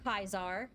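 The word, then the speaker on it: Caesar: I know all way actual pronunciation of Latin versus uh the bastardized version that we have now and we do say kaizar you know that is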